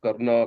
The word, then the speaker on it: Karna: like we call Rama, Karna, Krishna. These things come from English influence. The real words are Ram, Krishna, and Karna, like that.